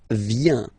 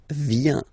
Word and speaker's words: viens: First form, je viens, final S not pronounced, je viens. Remember, I-E-N, ien, je viens.